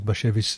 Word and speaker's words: Bashevis: It's Bashevis. And it's not hashish.